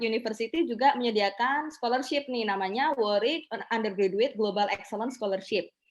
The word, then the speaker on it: Warwick: yang lain yaitu di Warwick work ya bacanya worry University kalau ini di